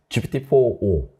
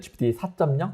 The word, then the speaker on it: GPT-4o: 옴니버스 할 때 옴니의 O인데 그래서, 네. 어떤 분들은 GPT 4.0 막 이렇게 발음하시는 분들이 있고 많이 헷갈려 하시더라고요.